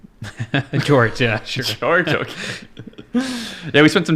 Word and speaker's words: Georges: I've seen Americans say Georges. I've seen lots of people call Georges. Which is incorrect. Right. Yeah. Whether you're American or anything else, that's not the right way to say it. All right. So how do you say your name? Full name? George is the way I would say it.